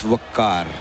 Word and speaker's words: Waqar: do you pronounce it it's wakar wak yeah so rolling my R is essential for this yeah right